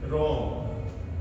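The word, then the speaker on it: wrong: सभी लोग हम जानते हैं किसी शब्द के शुरुआत में किसी वर्ड के शुरू में डब्लू और डब्लू के बाद में आर ये ऐसा आ जाए तो इसमें डब्लू हमारा है वो साइलेंट रहता है।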